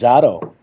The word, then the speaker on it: Zadow: How you pronounce that? Zadow or Zadow? The first one, it's Zadow.